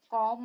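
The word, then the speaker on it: calm: एक मिनट बाद, L silent, वैसे तो एल सब जगह साइलेंट नहीं होता है, लेकिन कुछ ऐसी वर्तनी होती है जहां पर एल को साइलेंट रखा जाता है, यानी कि उसको नहीं पढ़ा जाता।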